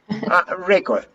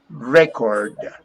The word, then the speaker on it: record: can you pronounce this record record not required record is the verb record is the action the action the verb and record is the like a cassette for old people or like a cd